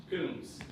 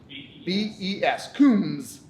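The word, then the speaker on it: Coombes: Coombs. Spell it for me. C-O-O-M-B-E-S. C-O-O-M-B-E-S. Coombs. The B is silent. It rolls right through. But it's implied, right? The way you say it, you go Coombs.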